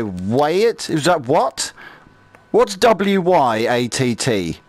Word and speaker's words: Wyatt: What's W-Y-A-T-T? How do you say that? Wyatt. Like the cowboy.